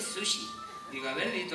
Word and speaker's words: sushi: Chuchi de estos dice no se dice Chuchi se dice Sushi digo a ver di